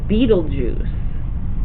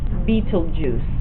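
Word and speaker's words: Betelgeuse: of your page is called Beetle Juice Beetle ju and it's not spelled like Beetle and then juice it is b e t e l g not a j but g e u s e Beetle Juice b e t e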